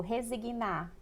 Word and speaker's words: resignar: é pensar por exemplo resignar a sílaba tônica está no na que tem um g.na e porque resignado escreve com